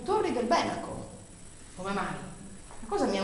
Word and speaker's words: Torri del Benaco: chiamavano benacus E difatti Io conosco persone che abitano Tori del Benaco ma loro però lo pronunciano Torri del Benaco Come mai cosa mi